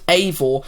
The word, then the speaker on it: Eivor: and you play as Eivor. I'm guessing that's how it's pronounced, because that's how the director pronounced it in an interview, but it's spelt like this. So, really, it's anyone's guess.